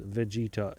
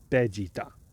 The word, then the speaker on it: Vegeta: Vegeta is not pronounced Vegeta in Japanese; it's pronounced Vegeta.